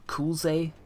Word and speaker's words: Kulve: Kulze, as in cool, kulze, cool.